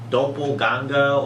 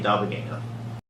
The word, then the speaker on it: Doppoganga: because I have like a lot of people pronounce my name wrong, and I can't blame them for that. They usually pronounce it Doppoganga or Doppelganga or Doppelganga or Doppelganga. Like, yeah, it's just a little bit different. But how you pronounce my name is basically Doppelganger.